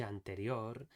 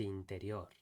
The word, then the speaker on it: anterior: And additionally, when he pronounced noche anterior, it sounded more like noche interior.